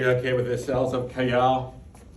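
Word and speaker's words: Cajal: with this cells up kayell t-a-j-a-l it's the spanish pronunciation the j do i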